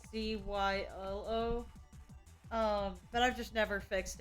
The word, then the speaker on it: Zielo: spell it wrong like technically silos name I spell it uh z IL o but it's supposed to be pronounced CYO but I've just never